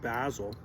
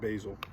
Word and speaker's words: basil: really good speaking of Basil see in Canada and America we pronounce it basil our friends across the